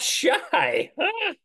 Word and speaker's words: שי: And it's pronounced shy.